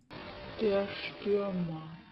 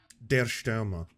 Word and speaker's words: Der Stürmer: How to pronounce Der Stürmer. Is it going to be Die Stürmer? Der Stürmer. Der Stürmer.